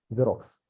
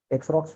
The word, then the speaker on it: Xerox: जेरोक्स। एक्सरॉक्स क्यों नहीं बुलाते? सोचने वाली साइलेंट बात होता है।